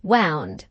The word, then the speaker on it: wound: Mrs. Jupp pronounced wound, as though it rhymed to sound.